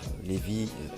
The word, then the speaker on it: Lévis: même, nous sommes à Lévis. Non Lévis, mais Lévis, ça se prononce Lévis. Mais bon, tout le monde fait l'erreur, notamment les Français qui arrivent ici, ils disent Lévis.